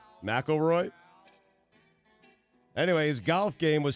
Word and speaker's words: McIlroy: don't understand why how do you say it McIlroy McIlroy anyway his golf game was Stella this weekend